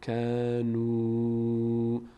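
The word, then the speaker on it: كانوا: میشه ولکن ولکن ولکن کانو کانو کانو کانو واو اینجا مدکشیم این الف تلفظ نمیشه ولکن ولکن ولکن کانو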